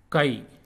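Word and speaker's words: कै: And it is pronounced like Ki in kite.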